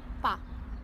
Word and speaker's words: Pa: Pa. Pa? With a B or a P? With a P. P. Pa.